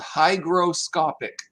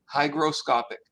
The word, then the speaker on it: hygroscopic: have heard of before the word is called hygroscopic hygroscopic now the it is spelt h y g is in george r